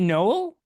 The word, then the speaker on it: Noelle: Is it Noel? I don't want to mispronounce her name. I Or is it believe her name is Noel? Noelle Quinn.